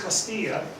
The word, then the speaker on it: Castilla: And you can see here's Castilla, the area that's Castilla. You can see this Granada, but now it's part of Spain. It's part of Spain. It's Portugal. This is the double L is pronounced Y.